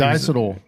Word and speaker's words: diacetyl: He always It's diacetyl.